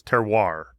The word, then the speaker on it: terroir: Terroir, right, is how it's pronounced? Yes.